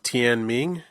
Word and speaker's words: Tian Ming: Then it leads on to Tian Ming.